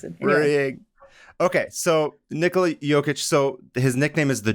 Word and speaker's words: Jokić: jokester but just because last name is spelled j o k i c and like some one of his teammates was like oh I don't know how to say like yic so you're just joker